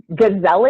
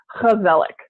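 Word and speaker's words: gezellig: it says gizelle Inc but it's a Dutch word and and Dutch that G instead of it being a girl it's a hook like an eight just to cough up a little bit there so it's Kubelik and okay so they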